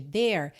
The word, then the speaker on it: there: Lembrando que esse E final de there não é pronunciado, tá pintadinho de cinza, tá?